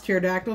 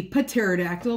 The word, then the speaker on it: pterodactyl: It took me a long time to pronounce pterodactyl because I always thought the P was actually a sound that you heard, so it would be pterodactyl, but we all know that that's not correct.